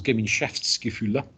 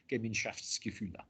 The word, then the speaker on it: Gemeinschaftsgefühle: But one of his ideas was Gemeinschaftsgefühle, that's how you pronounce that. Gemeinschaftsgefühle, which, being German, they like bolting several words together to form one really, really, really long word.